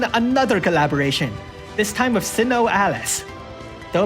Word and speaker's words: SINoALICE: We interrupt Final Fantasy IV to bring in another collaboration, this time with Sinnoh Alice. Though apparently in Japan it's pronounced like Shino?